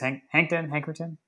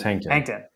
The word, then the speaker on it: Hankton: Cortez Hankerton? How do you say his name? Cortez Hankton. I added an extra syllable.